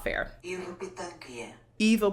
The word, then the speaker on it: Pitanguy: Ivo Pitangui. Ivo Pitangui.